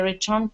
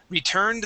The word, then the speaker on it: returned: nice all right let's practice uh the ed ending with the d sound right here we're gonna say returned returned that night returned that